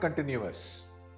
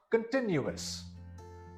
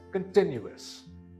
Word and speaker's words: continuous: This word is not continuous. The stress is upon the second syllable. This word is pronounced continuous. Again, this word is continuous.